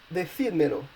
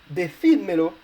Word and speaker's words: decídmelo: But in the last example, decídmelo, you have two pronouns at the end, so basically you will need a written accent on the I in order to keep the logical stress.